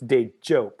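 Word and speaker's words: Dejope: and it's jump like it's hard jay like jump so it's day job and so d-e-j-o-p-e or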